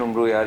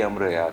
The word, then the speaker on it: Umro Ayyar: and I think जो actual book है दास्तान अमीर हमजा, उसमें actual pronunciation उम्रो यार की अमर यार है.